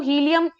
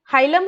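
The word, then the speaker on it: hilum: हाँ, वो हीलियम हाइलम है, मेरी प्रोनाउंसिएशन उसकी वही है ना, शुरुआत से वही बोलती हुई आई हूं तो वही रहती है। तो काफी बच्चे कमेंट मत करने लग जाना कि प्रोनाउंस करना नहीं आता या क्या, है ना। जो स्टार्टिंग से आप बोलते जाते हो वही आपको आदत पड़ जाती है, हालांकि I know it इज हाइलम।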